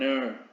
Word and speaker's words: heir: An hour, an heir, ¿vale?